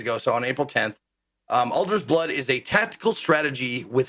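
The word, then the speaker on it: Alder's Blood: Am I pronouncing that correct? Alger's Blood, yes.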